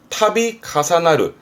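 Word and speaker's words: 度重なる: 요렇게 쓰면 앞에게 빈도수의 두자라서 빈도수의 도자라서 거듭 반복되는 부분인데 발음이 타비 카사나르 타비 카사나르입니다.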